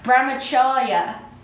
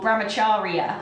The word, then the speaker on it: brahmacharya: The fourth one, brahmacharya or brahmacharya. I've heard it pronounced both ways.